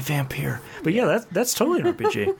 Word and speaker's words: Vampyr: vampyre yeah unfortunately they unfortunately they pronounced a vampire but it's it's totally vampyre but yeah that's totally